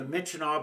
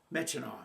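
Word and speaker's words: Myitkyina: And they sent us down to Mitchino, Burma. Now, that's not pronounced the way it's spelled. Yeah, I actually know how it's spelled. M y k y i n a. Mitchino.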